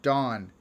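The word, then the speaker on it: Dohne: bonnie thank you um dawn pronunciation of my name is good oh her name is thank you dawn a dawn's name is spelled d-o-h-n-e and it's dawn thank you see how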